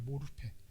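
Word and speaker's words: μορφή: 단어입니다 따라해 볼까요 모르패 까나 앞에 아닙니다 모로페입니다 모르페 모릅니다 이렇게 외우면 안 돼요 무릎에 하나 단어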